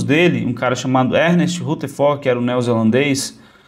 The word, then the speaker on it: Rutherford: um cara chamado Ernest Rutherford, que era um neozelandês, ou Ernest Rutherford, né? Se você quiser falar a pronúncia correta em inglês, ele fez um experimento já envolvendo radioatividade.